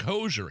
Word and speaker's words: Hozier: Yeah, am I saying it right, Allison? Hozier? I think so, actually. Is it Hozier? I think it's Hozier. H-O-Z-I-E-R, Hozier.